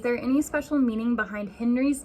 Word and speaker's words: Henri: It is actually pronounced in French Henri, but I was really curious if any other countries would spell the name Henri that way but pronounce it as Henry.